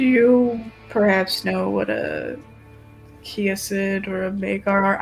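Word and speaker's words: Kiasyd: Do you perhaps know what a kiosid or a vagar are? I feel like I just butchered the pronunciation on that first one. Is it kayasid? It's kiosid. Kioid. Okay. I was closer the first time.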